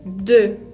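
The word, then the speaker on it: deux: demasiado la n final el número 2 se dice de que tiene una equis al final que no se pronuncia el número 3 se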